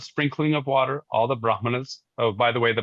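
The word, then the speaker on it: brāhmaṇa: Vashamp said at the time of sprinkling of water all the brahmanas. Oh by the way the brahana thing Brahma is the foreheaded creator. A brahmana is a brahman and brahma without any long a is the right all pervasive singularity.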